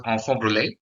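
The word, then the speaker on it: enfant brûlé: in French is known as onfor actually is pronounced as onfor Brule uh in French so at time of birth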